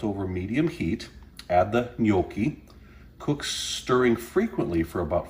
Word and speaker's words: gnocchi: for you and uh no it's not gannoki gnocchi say it like an italian gnocchi so we thought we